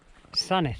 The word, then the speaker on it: Sandwith: right, start walking towards Sanith. Which is spelled Sandwith, Sandwith, but you pronounce it Sanith.